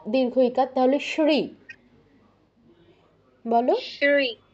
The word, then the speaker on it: শ্রী: ইকার তাহলে শ্রী বলো শ্রী না তোমার শ্রী শ্রী শ্রী আমরা বাংলায় যেমন বলি না সদা সত্য কথা বলবে তো এখানে স এর উচ্চারণটা যেমন হচ্ছে সংস্কৃত তালব্যসের উচ্চারণটা ঠিক তেমন শ্রী শ্রী বলো শ্রী